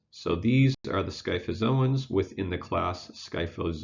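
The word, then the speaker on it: scyphozoans: are these things so this crazy word is pronounced sky fazil ones so these are the sky FFA's owns within the class sky fellas oh wow so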